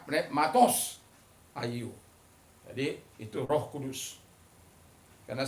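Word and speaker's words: πνεύματος ἁγίου: Dalam Perjanjian Baru, Roh Kudus, pneumatos hagiou...ya, Roh Kudus, hagios, dieja h-a-g-i-o-u, tetapi diucapkan...Ya, itulah pengucapan yang benar; jadi, pneumatos. Pneumatos, jika Anda membacanya, pneumatos hagiou.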